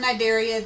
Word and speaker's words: Cnidaria: jellies but I'm a phylum Cnidaria the C is silent what's unique about them